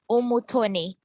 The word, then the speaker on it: Umutoni: It's a French name, and then my last name is Umutoni. So the U is pronounced U.